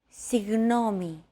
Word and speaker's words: Συγγνώμη: Another approach is to try to pronounce a G as if an H sound were to follow after it and hold that sound while you exhale. The after sound created by that H is what you're looking for.